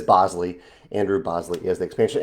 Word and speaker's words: Bosley: pronouncing your name correctly I know I messed that up in the past and said Bosley but I believe it is Bosley Andrew Bosley is the